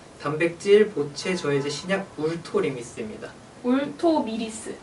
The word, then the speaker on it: 울토미리스: 울토미리스. 예, 울토미리스. 네. 죄송합니다. 이게 발음이 너무 힘들더라고요.